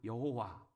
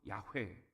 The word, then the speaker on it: 여호와: 우리가 늘 이야기를 하지만 하나님은 여호와 혹은 야훼 이렇게 발음을 하는데, 이것은 지금 히브리어가 모음만 4개가 있기 때문에 자음을 어떻게 찍느냐에 따라서 우리가 야훼 이렇게 발음을 하기도 하고 여호와 이렇게 그냥 발음을 하기도 한다 하는 것입니다.